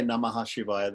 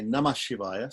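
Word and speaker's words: नमः शिवाय: Shivaya so namaha Shivaya people don't say namaha Shivaya they they say namah Shivaya so you can you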